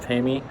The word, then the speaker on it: TAME: It's spelled in English, it looks like tame, but it's pronounced Tami.